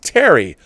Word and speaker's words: Teri: heard my name although it's pronounced teri like Harry but starting with the T thank you again now